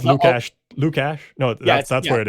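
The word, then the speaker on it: Lukáš: No, there's like a sh sound in it. Or no, it's Lukash.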